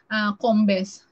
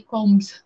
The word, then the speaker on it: Combes: Salamat sa iyong pag-correct, ha, ayan, okay na, Combes, EJ, Combes, ayan, EJ Combes TV, ayan, ang kanyang explanation sa pag-pronounce ko, dapat ang kanyang Combes, hindi Combs, Combes, ayan.